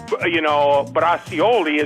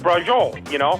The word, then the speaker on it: braciole: It isn't bracioli is braciole, Wow.